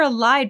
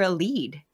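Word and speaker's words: Elide: Because so we've been calling her a Lide, but then I was listening to the audiobook and they call her a lead.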